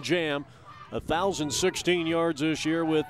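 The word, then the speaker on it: Djam: Spells it D-J-A-M, but it's pronounced Carlton Jam.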